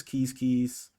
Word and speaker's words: Quizquiz: didn't mention this but keys keys is pronounced like you may pronounce a squish quiz and the achievement is quiz quiz pro quo but this actual pronunciation of this tribe is keys keys anyway as keys